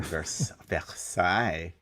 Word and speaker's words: Versailles: Oh, look at you with that pronunciation, Versailles.